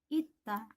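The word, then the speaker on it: 있다: Sini, kalau misalnya sang siot ada di bawah, maka kita bacanya menjadi T. Maka bacanya adalah ita.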